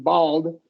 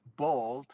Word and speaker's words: bald: yeah and so the the a in in bald is going to be like a short o LX a okay uh bald yeah bald eagle is